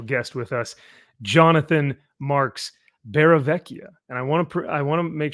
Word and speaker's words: Barravecchia: And tonight we have a very, very special guest with us, Jonathan Marks Barravecchia. And I want to make sure I'm pronouncing that correctly.